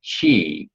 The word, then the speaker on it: qi: And even though it seems weird that a QI would be pronounced chi, once you learn the